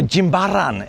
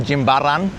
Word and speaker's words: Jimbaran: up down here at Jimbaran Bay or Jimbaran as the locals would say. Those A's are pronounced with a ah sound, Jimbaran.